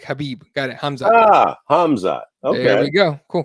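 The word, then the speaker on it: Khamzat: the the correction here they don't pronounce the k it's pronounced hamza like habib got it ah hamza okay there you go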